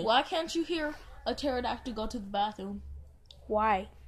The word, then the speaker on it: pterodactyl: goes to the bathroom because the P is silent pterodactyl because there's a petard